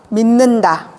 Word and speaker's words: 믿는다: 같은 조음 위치에서 비음이 아닌 애가 비음 앞에서 비음으로 변하는 거예요. 밥물이 밥물. 믿는다가 믿는다. 한국말이 한국말. 이렇게 같은 조음 위치에서 비음 앞에서는 비음으로 변하는 겁니다.